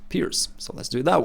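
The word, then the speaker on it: Pirc: into the Pierce defense guys told me last time that it's not a perk defense that it's a Slovenian last name that should be pronounced Pierce so let's do it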